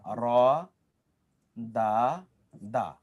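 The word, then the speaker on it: ردّ: কিন্তু দুটো বর্ণ যদি একরকম হয় তাহলে আরবরা সাধারণত দুটো বর্ণকে একটার সাথে তারা কি করে? একটার সাথে ওটাকে নিয়ে গিয়ে তখন একসাথে উচ্চারণ করে।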